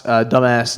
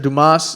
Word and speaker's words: Dumas: Mr. Dumas, dumbass. No, Dumas. That's how you say it.